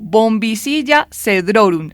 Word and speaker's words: Bombycilla cedrorum: la pronunciación, profe, pero yo digo bombicilla cedrorun. Así que cuénteme usted cómo se pronuncia correctamente, incluso cómo la conocemos también a esta ave, digamos, eh los elementos que llaman la atención de su presencia en Rí Negro. Bueno, estás estás muy bien con el nombre.